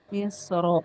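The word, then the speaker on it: مصر: Jadi misr dan fitr itu sebenarnya boleh tebal, boleh tipis ya. Cuman ada yang lebih utama. Kalau misr itu lebih utama tebal, kalau qitr itu lebih utama tipis.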